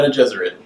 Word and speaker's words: Bene Gesserit: The Bene Gesserit.